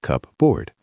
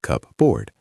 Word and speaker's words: cupboard: It looks like cupboard, but we don't say cupboard. We say cupboard. The P is silent or changes to a soft B sound.